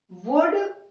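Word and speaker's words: would: अब यहां पर देखिए डी के पहले एल है तो हम इसका प्रोनाउंसिएशन क्या करते हैं, शुड. हम एल का यूज नहीं करते हैं. वुड, यहां पर भी हम एल का यूज नहीं करते हैं.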